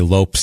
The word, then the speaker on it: Lopes: Because no, I just know in an article they say Lopes like ropes to make sure you know. Okay, to make sure you know it's not Lopez.